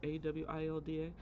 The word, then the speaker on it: Awilda: Bubbly, adventurous Awilda, I hope that's how you say it. It's Awilda.